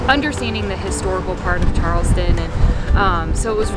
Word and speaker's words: Charleston: Charleston the correct pronunciation Charleston is phonetically spelled c-h-a-a-a-s-t-o-n -chast you can add as many A's as you wish but Charles we got